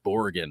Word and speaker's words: Brogan: on how uh retro Rob and borgan right that's that's the pronunciation of my last name you're you're boring